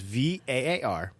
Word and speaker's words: Varginha: But this is called the Varginha UFO Incident. Varginha, but the pronunciation thing is Varginhaa. Varginha.